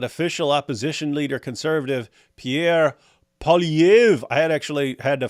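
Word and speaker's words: Poilievre: opposition leader conservative Pierre PV I had actually had to find a place that pronounce his name I'm still getting it wrong but apparently they don't pronounce the r at the end uh don't know why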